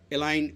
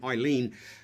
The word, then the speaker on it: Eileen: talks about how uh Elaine um I don't want to get the name wrong here I keep forgetting ien I should say not elain Eileen you know works so